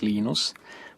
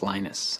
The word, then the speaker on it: Linus: your preferred pronunciation um when i speak swedish it's venus when i speak finnish it's linos when i speak english it's linus and i really don't care how people pronounce my name but linux is always linux he developed a kernel